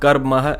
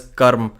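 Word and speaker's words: कर्म: it is realistically speaking in Sanskrit it was called karma and in Hindi it is called Karm it is a Hindi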